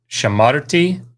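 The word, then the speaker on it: שָׁמַרְתִּי: mark here is that the comets because it stands in this open syllable it reduced to shiva so as the you know as the accent drew this way it reduced this uh first comet so shamarti and if you've been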